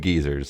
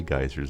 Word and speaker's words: geysers: Yes, he said geezers, and I think that's their pronunciation. We say geysers over here. Geezers has an entirely different connotation.